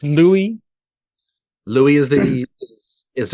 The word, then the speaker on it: Louis: yeah I guess he's thinking hello uis but pronounced Louie Louie is that he is acceptable and now